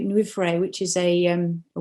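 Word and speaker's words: llwyfre: i've got a website myself which is um nuffray new frey which is a um a welsh word so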